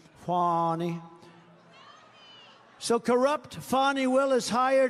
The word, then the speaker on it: Fani: now even though it's I believe it's spelled f a ni I to my way of thinking that's Fanny but when she became the district attorney I think she put a little emphasis on the youu fonnie so corrupt fonnie Willis